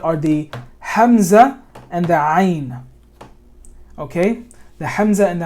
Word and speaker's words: ayn: The ayn, you want to imagine you want to feel your Adam's apple when you're saying ayn. And when you're saying it correctly, your Adam's apple is going to go up. Ayn. Your Adam's apple is going to shift up and down when you say ayn.